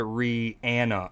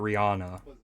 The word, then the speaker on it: Rihanna: I think it's she's actually says it's supposed you're if I'm not mistaken I learned over the years you're supposed to pronounce it Rihanna actually not Rihanna.